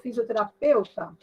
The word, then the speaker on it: fisioterapeuta: Qual é a sílaba mais forte quando você pronuncia essa palavra? Peuta. Peuta. Isso, Ali, ó. Exatamente. Então, essa aqui é a sílaba tônica. Quando a gente fala em sílaba tônica, às vezes a gente pensa assim, é a sílaba que tem acento. Não, às vezes não tem, como esse caso. Mas, ao pronunciar, a gente percebe que essa é mais forte.